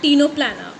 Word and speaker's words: Ctenoplana: Example is Pleurobrachia, Ctenoplana. Okay, C is silent over here.